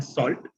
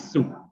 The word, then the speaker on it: Sault: But parallelly, if I talk about, we don't call it as an SALT or SALT. So we call it as a pronunciation of the college is SU.